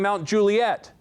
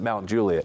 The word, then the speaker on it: Mount Juliet: And so I hadn't been there long enough to know that it's pronounced Mount Juliet. And I said, yeah, I live in Mount Juliet.